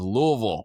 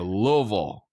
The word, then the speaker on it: Louisville: We were talking before we started if it's Louisville or Louisville. I was saying that my whole life it was a Louisville Slugger. But then when you actually go there, they say, no, it's Louisville.